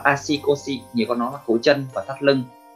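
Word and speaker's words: 足腰: Nghĩa của nó là asikosi, asikosi. Nghĩa của nó, cách đọc của nó là asikosi, nghĩa của nó là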